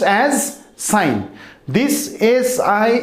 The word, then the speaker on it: sine: it is pronounced as sine this is i n theta this s i n is pronounced as sine theta but not sin theta okay and this uh